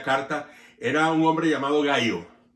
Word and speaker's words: Gayo: era un hombre llamado Gayo. Realmente lo escriben como Gallo, así en esta pronunciación, pero el nombre originalmente es Gayo y se escribe se podría transliterar con I latina y no con Y.